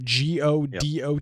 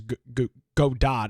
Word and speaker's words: Godot: that they were moving to something like Gau g d o t also pronounced as God do it's gdo is how it's pronounced uh a